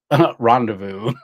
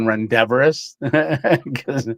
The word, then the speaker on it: rendezvous: like, kind of like rendezvous. Me trying to pronounce that for a year. I was saying rendevorous. Said, hey, I'm going to a rendevorous.